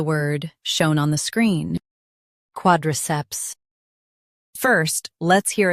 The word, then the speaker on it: quadriceps: Quad, ceps, quadriceps, quad, ceps, quadriceps. Stress quad and keep ceps clear.